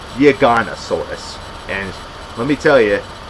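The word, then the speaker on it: Giganotosaurus: I pronounced it Giganosaurus, but no, it's pronounced Giganosaurus.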